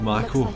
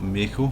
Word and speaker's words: Mako: Indeed Mako, as Barrett says, and not Mako, which I noted too late. I'd mispronounced at the start of my last video.